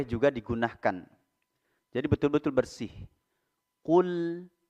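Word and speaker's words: قل: digunakan jadi betul-betul bersih Qul Qul Ya jadi jangan quul ya ini sering sekali kita menemukan ada yang memantulkan huruf lam ya ya ini jangan sampai seperti itu bacanya jadi betul-betul bersih izhar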